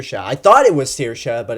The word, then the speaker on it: Saoirse: and she was telling everyone how her name is spelled out it's Saoirse not see your shot I thought it was Saoirse but it's Saoirse anyway um not seeing Brooklyn